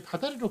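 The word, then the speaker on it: 다달이: 달다리인데 이게 다다리로 발음이 된단 말이에요.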